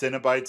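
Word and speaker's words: Cenobites: okay cinebites xenobytes yeah it's it's pronounced cinebites if you say a fight but it would be xenobites you your fat ass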